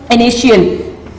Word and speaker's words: initial: The word initial contain TI into it, and when you pronounce this word with me, initial. The word TI again give you the sound as SH. The word TI give the sound as SH initial.